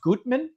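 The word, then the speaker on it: Göttmann: This is from, and I always say this wrong, I believe it's pronounced Gutmann. It's spelled G-O-T-T umlaut, G-O umlaut T-T-M-A-N-N.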